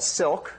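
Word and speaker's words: Cilk: Okay, so we've developed a dynamic multi-threaded language called Silk, spelled with a C because it's based on the language C, and it's not an acronym. It's because silk is like nice threads.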